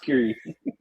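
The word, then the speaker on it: Κύριε: Yeah, that's just that's just the Greek Greek word just pronounced kiri.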